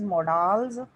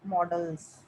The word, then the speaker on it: modals: A model is, it can be called as modals or models. दोनों तरह की pronunciation चलती है, so don't go for that difference. It can be called as in the pronunciation modals, or some people call it as models. When you listen the pronunciation in the dictionary, they also speak as models. So any type of pronunciation is welcomed.